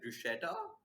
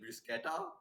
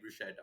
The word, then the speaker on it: bruschetta: pronounce it is it bruschetta is it blue scatter what is it it's there we go you have to think to have a k instead of ch and drop down done